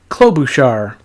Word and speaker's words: Klobuchar: First up, we got Amy Klobuchar. Also a valid pronunciation.